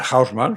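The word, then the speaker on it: Haussmann: hubo un tal varón dicen los franceses deán o de hausman porque si no recuerdo mal era saiano eh Y si me apetece pronunciarlo más o menos al alemana pues estoy mi derecho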